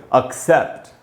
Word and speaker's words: accept: एक्सेप्ट का उच्चारण दोस्तों ऐसे करेंगे, सै में जो ए है उसी पर ज़्यादा रुकना है, ऐसे बोलेंगे एक्सेप्ट। और दोस्तों ये भी एक वर्ब है और इसका मीनिंग होता है स्वीकार करना।